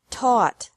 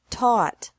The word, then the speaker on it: taught: seek sought sought teach taught taught think thought thought remember that the g is silent in these verbs verbs with three different